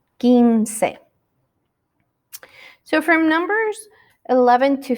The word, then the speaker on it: quince: to the number 15 remember that that u after q is silent so we don't say quince we have to say ginsei so from numbers 11